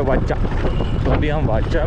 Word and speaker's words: Watsa: नाम है ट बट यहां के लोग इसको प्रोनाउंस करते हैं वाचा अभी हम वाचा में